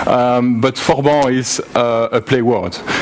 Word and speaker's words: Forban: something called forban uh you can pronounce it with a French accent sorry for my French accent um but forban is uh a play